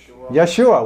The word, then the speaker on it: Yeshua: mean yes and what how do you pronounce it Yeshua which happens to be